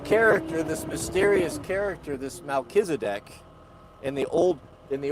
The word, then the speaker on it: Melchizedek: who is John Galt I say who is the kill the kiss of black I just butchered that someone someone spelled that up for me who's that that shadowy prophet in the Old Testament Melchizedek thank you Melchizedek that was so high